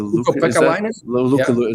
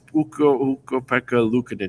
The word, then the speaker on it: Ukko-Pekka Luukkonen: Well, Ukko-Pekka Luukko-Pekka-Lainen? No, it's not like a Lainen. It's Ukko-Pekka Luukkonen.